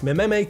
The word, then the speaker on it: meme: of Simon, writing this: Mememe comes from a suitable Greek root, but I want a monosyllable that sounds a bit like gene.